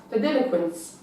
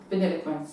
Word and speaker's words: Vanilliquence: at the stud, and her name's pronounced Vanilliquence. She's kind of like as in the ice cream, but it's not spelled the same way as vanilla. It's actually spelled a different way, but it's pronounced Vanilliquence, and she's back at the stud.